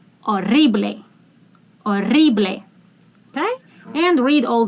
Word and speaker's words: horrible: I want to remind you that when you speak Spanish, if H is the first letter, do not pronounce it. Start with the second. Horrible. Horrible.